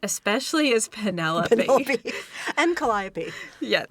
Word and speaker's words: Calliope: And Calliope. Yeah. Or as she pronounces it, Calliope. I don't speak Greek. I know the musical instrument Is a calliope. which is why I'm saying it that way.